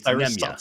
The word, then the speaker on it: Nemanja: Trust me, as someone named Dieter Kurtenbach, I can understand mispronouncing the name. It's Nemanja.